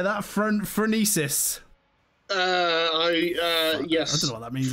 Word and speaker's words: Phronesis: Phronesis.